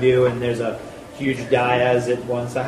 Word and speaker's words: dais: and there's a huge dais at one side. How would you pronounce that? Dais. Dais, good.